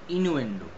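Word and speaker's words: innuendo: ওকে, তাহলে নেক্সট হচ্ছে ইনুয়েন্ডো। ইনুয়েন্ডো, ইনুয়েন্ডো উচ্চারণটা ই নুয়েন্ডো, ইনুয়েন্ডো।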